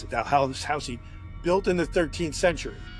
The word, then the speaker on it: Dalhousie: She's in this house in Scotland called Dalhousie. That's how they pronounce it. Dalhousie, built in the 13th century, right?